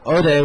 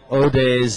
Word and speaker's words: Hodei: be the 551 that oday wants and uh thank you very much to some of our Spanish speakers writing in and uh telling us not to pronounce the h in in od's name because otherwise uh